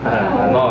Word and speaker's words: H0: Tapi bacanya jangan HO ya. Bacanya tetap H0 ya.